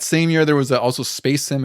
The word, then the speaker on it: Spasim: And then in that same year, there was also Space Sim. It's spelled SPA Sim, which is pretty interesting.